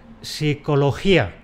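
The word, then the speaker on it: psicología: Pero para unos órganos fonadores hispánicos es prácticamente imposible decir eso sin perder la dentadura. De ahí que pronunciemos .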